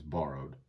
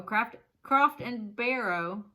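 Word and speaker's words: Croft & Barrow: I feel like they shouldn't have sold it if it was borrowed. Gosh, Dad. I didn't name it. I just didn't sell know it was borrowed, okay? Croft and Barrow, not borrow. Croft and Barrow brown lambskin leather jacket coat.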